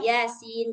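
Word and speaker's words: يس: atau misalkan Yasin gitu tulisannya itu huruf ya dan sin. Nah, maka dibaca Yasin gitu.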